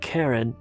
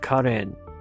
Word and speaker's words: Karen: So Karen Minasyan, and by the way, that's the way you pronounce it. It's not Karen, but Karen. There is no Karen in Armenian, so it's only Karen.